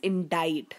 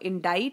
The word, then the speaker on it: indict: be next one is indict again the pronunciation is different over here indict is to accuse somebody of wrong so indict notice the pronunciation here it becomes different so indict basically means